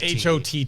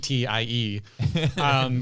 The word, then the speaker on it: haughty: pronounced that But not hag-tea. Hottie.